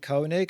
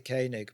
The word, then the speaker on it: Koenig: Sometimes I pronounce it Koenig, and sometimes I pronounce it Koenig. But let's go with Koenig.